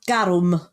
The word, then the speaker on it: garum: Yeah, no, it's pretty much just garum. It's exactly the same, just with a rolled R.